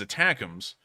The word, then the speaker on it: ATACMS: I actually thought they were called ATACMS, but apparently the Army's actual official name for them and how it's pronounced is attackums.